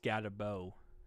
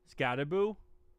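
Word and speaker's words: Skattebo: Uh, got Tracy starting pronounced Scatabo, not Scatteraboo. Scataboo.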